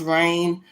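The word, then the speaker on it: RAINN: And that's um RAIN, pronounced RAIN, and for the National Child Abuse Hotline for assistance with information and questions regarding child abuse.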